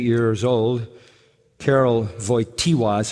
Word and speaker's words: Karol Wojtyła: After the death of his mother, when he was 8 years old, Karol Wojtyła is how you say his name, the Pope that died.